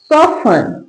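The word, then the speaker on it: soften: टी का sound नहीं आता।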